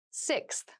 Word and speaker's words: sixth: fifth floor don't you sixth sixth sixth so sixth refers to the number six of something this is a really good word to practice some pronunciation slow down that six that middle part there the sixth book from